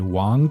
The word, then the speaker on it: Wang: Do not attempt to pronounce this as Wang. Yeah, it's not Wang. 对. There's no Wang in Mandarin. So the A-N-G should be Ang. So Wang. Wang.